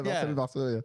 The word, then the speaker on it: Marcel Marceau: Yeah, Marcel Marceau, yeah.